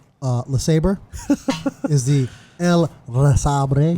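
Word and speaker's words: LeSabre: This guy had a 70s La Sabre for sale. Big wheels. I was going to For save those it. that don't know, that's the Venezuelan pronunciation of Le Sabre.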